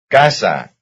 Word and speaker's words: casa: Casa. Casa. It's the first syllable.